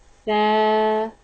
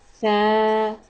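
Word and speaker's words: ث: The letter of Sa pronounced from tip of the tongue and tip of the front two teeth. Sa. Sa.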